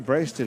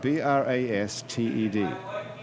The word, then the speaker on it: Brasted: B-R-A-S-T-E-D. right. It looks like Brasted. Brasted. That's what I Doesn't usually it? get. Brasted. Like blasted. It's like the sort of wrong pronunciation of blasted.